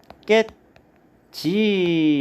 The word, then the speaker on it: 했겠지: 그럼 여기 보시면 디귿하고 기역하고 만나면 뒤에 기역이 쌍기역으로 이렇게 이제 바뀝니다. 그래서 발음이 햇겠지 이렇게 되는 것이고요.